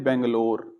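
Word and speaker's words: Bengaluru: transport करना है मैंने बेंगलोर ठीक है वैसे बेंगलुरु बोलते हैं मैंने बैंगलोर लिख दिया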